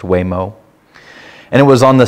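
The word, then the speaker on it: Huémoz: Switzerland in a place called it it's not pronounced how it's said it's called weo right h u m o z but it's pronounced weo and it was on the side of a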